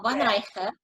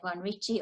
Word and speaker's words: von Reich: Well, von Reich, but Americans say von Ricci or von Reich, so I go by that too.